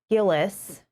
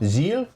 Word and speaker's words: Gilles: They said it's French. Yeah, that's why I didn't know if it was like a soft G or a hard G. Sounds like a J.